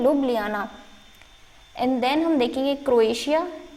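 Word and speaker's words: Ljubljana: तो देखिए थोड़ा काफ़ी अजीब इसकी स्पेलिंग है, इसका प्रोनाउंसिएशन है लुब्लियाना।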